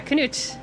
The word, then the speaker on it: Canute: That's how you pronounce it. Yeah, Canute.